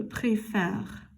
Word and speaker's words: préfère: But for the je, tu, il, elle, and the il, elle, we're going to flip it backwards to an accent grave. And the pronunciation changes. Je préfère, tu préfères, il préfère, elle préfère, on préfère, il préfère, elle préfère.